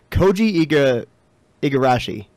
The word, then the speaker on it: Koji Igarashi: Koji Igarashi. Mm-hmm. That sounds close. Yeah, that's pretty close if it's not, because he's known as Iga.